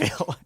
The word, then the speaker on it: Cavill: I think it's pronounced. It's Cavill. Do you know what?